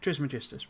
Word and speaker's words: Trismegistus: But it's spelt Trismegistus, M-E. That's, you know, because of how you pronounce it in Greek. But so it is a sort of misspelling of it. But yeah, Trismegistus would be the proper way, but Triggles is what